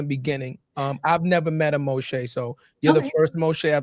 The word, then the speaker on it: Mo'Shai: But now I'm, in today's society, when people say my name wrong, I like, nope, it's Mo'Shai.